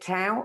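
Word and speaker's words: Tao: lot as well absolute do you pronounce it tau or down um i pronounce it dao dao absolute dao talks on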